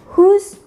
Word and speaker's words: who: So you can try to use whose, whom, dan juga whose. Nah, di sini semuanya adalah silent W, silent W, jadi who.